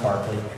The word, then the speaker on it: Berkeley: Looks like Berkeley, it's pronounced Berkeley, from 1933.